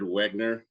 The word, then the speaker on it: Wegner: Jared Wegner, as I try to pronounce these, exactly Jared Wagner, but he wants us to call him Jared Wegner.